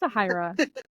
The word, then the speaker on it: Sahayra: that's what I don't care pronoun my freaking name wrong like you're going to say Lup right but it's sahira and I'm like it's okay I get if